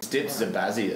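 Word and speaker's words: Dipsabazia: Dipsabazius is the correct pronunciation.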